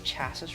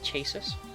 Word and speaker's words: chassis: Final chassis room. I'm not allowed to visit it. The door's locked. Problem is we not read these but rod chassis is different. How do you say it? Chasers chess.